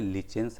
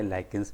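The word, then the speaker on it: lichens: बहुत famous example है लिचेंस है या लाइकिंस भी कुछ लोग प्रोनाउंस करते हैं इसको इट इज अ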